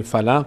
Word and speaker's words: فلق: اعوذ برب الفلق فلق این قاف رو دقت کنید فلق قل قل اعوذ برب